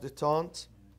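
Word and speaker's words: détente: Do you know the meaning of detente? Huh? It's a French word. Yes, it's a French. It's French. How do they pronounce it?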